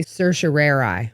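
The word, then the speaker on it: certiorari: petition for writ of this word is pronounced two different ways and I'm going to say Sir Sheri in the Florida Supreme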